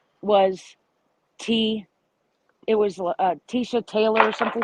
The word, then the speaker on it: Letecia: And I noticed she pronounced her name as Tesha instead of Tisha.